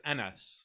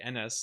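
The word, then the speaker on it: Enes: His name is NS, but it's spelled with a E. NS.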